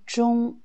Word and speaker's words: 中: Premier mot, zhong, comme dans zhongwen, il y a deux prononciations. Quand c'est le premier ton, zhong, ça veut dire milieu.